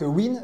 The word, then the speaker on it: UYN: Alors juste pour rappel, pour ceux qui ne connaissent pas la marque Win, ça s'écrit UYN, c'est l'acronyme pour Unleash Your Nature, et c'est une marque italienne créée en 2018.